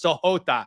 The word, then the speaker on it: Sahota: for sahor and I I apologize I pronounced that wrong I still have Shoto in my head from freaking my hero Academia it's sahota that's how you pronounce this guy's name soot um sahota's tall